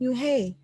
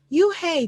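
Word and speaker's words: Unhei: she nodded slowly yes it's pronounced new hey and it means Grace Mr Kim at it you hey Joey said slowly and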